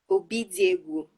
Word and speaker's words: Obidiegwu: Ugochi Obidiegwu. Is that correct? Your pronunciation of your surname? Obidiegwu. Obidiegwu.